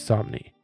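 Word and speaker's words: Samnee: of Superman by Chris Somni, who is a professional comic book artist. His name is spelled S A M Ne N E, but somewhere I saw once said he wrote it rhymed with Omni, so that's why I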